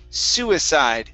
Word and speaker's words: suicide: This word here is pronounced suicide. Suicide. Suicide. Okay, stress at the beginning. Instead of suicide, it's suicide. Ba-da-da.